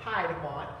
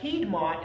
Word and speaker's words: Piedmont: these two different areas and the piedmont not piedmont but the piedmont as it is pronounced uh is looking at your area this